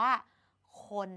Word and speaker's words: คน: ควาย กับ น หนู แต่ เรา อ่าน ออก เสียง สระ โอะ เหมือน เดิม นะ คะ ค โอะ น จึง เกิด เป็น คำ ว่า คน แบบ นี้ นั่น เอง